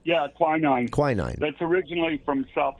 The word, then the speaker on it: quinine: They would soak in tonic water because it contained a chemical called, I think I'm pronouncing this right, quinine or quinine? Yeah, quinine.